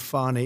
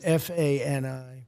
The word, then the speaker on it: Fani: She goes by the name of Fani, even though it's F-A-N-I. She wants to pronounce Fani.